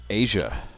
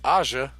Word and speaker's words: Aja: __ ] was pronounced asia asia steely damn it's aja and that's how i'm always going to pronounce it wait that's africa all